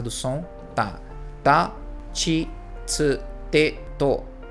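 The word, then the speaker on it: つ: Não pronunciem tisu quando estiverem falando japonês, tá? É tsu.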